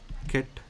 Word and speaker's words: ket: This is pronounced as ket n.